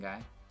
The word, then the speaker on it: Guy: Like, what are you saying, guy?